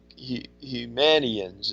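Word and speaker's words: Humanians: probably a few how do you say it Hugh manion's is how you pronounce yeah in the Gastonia area its kind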